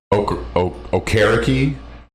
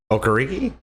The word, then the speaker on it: Okereke: Okereke. Okariki? I always call them Okariki. Yeah, is that wrong? Yeah, it's Okereke.